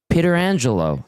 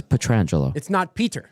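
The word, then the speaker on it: Pietrangelo: It's Petrangelo. It's not Peter. It's not Peter. Not like Peter.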